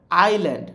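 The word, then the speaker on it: island: মুরগি আইল্যান্ড মানে দ্বীপ আইল্যান্ডের এখানে এস টা উচ্চারিত হবে না এটাকে ইংরেজিতে কি বলে সাইলেন্ট লেটার এই এস টা এই শব্দের মধ্যে সাইলেন্ট এস এইটা নিঃশব্দ এটার কোন শব্দ আমরা উচ্চারণ করবো না বুঝতে পারছো তুমি একটু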